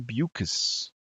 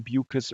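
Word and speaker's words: Beukes: After was uh with Lauren Bucus. Rhymes with mucus.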